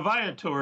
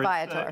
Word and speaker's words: Viator: Yeah, Viator. Viator. It's a play on the Latin word for traveler.